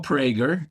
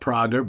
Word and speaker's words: Prager: No, it's Mo Prager, not Prager, but that's okay.